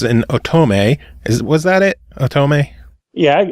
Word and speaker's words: otome: simply because it's an otome. Was that it? Otome? Yeah, I call it otome. If someone Otome. says otherwise, guess what? They taught us something. The emphasis on the third syllable.